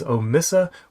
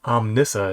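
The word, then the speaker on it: Omnissa: next new release is omissa workspace 1 itsm connector and I think I pronounced that wrong om Nissa is how that should be pronounced maybe uh transform it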